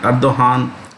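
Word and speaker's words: Erdoğan: So it's always been anti-India, at least ever since the current president Recep Tayyip Erdogan, the G is silent, Erdogan came to power.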